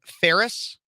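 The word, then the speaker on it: Phares: as Modern Renaissance Man how I pronounce my last name is Ferris like Ferris Bueller but spelled way differently so p-h-a-r-e-s as you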